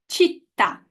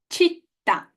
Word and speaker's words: città: Okay, guys, the correct pronunciation of these three words is città, città. Nazionalità. Nazionalità. Menu. Menu. And you know what? We don't need to guess it or to know it. The word tells us where the stress goes.